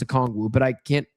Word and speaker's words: Okongwu: I can't even pronounce it. Okongwu. I know it's Okongwu, but I can't say his first name.